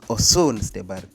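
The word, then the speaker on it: Osun: in 2005 and it's located in Ocean State or they also read it as awesome basically the pronunciation is ocean so it's in oshun state Us in the South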